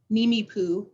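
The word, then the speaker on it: Nimiipuu: Nimi Poo is how you say it.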